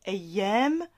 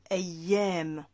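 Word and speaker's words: أيام: Donc les jours de la semaine, en arabe on dit ayyam al-usbu'. Les jours, on dit ayyam. Ayyam, alif, avec la hamza, a. Ya, avec la fatha, et la prolongation.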